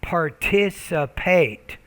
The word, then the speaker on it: participate: pronounce it corly par participate so you're not pronouncing the T clearly you're not pronouncing the P clearly because they can it